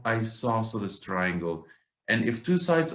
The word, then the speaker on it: isosceles: triangles what's the second one how do we pronounce this it is isosceles isosceles triangles I saw such as triangles that they